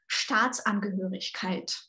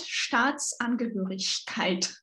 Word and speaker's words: Staatsangehörigkeit: So, and you also need to pay attention to long and short vowels. Mm-hmm. And ich laut Staatsangehörigkeit.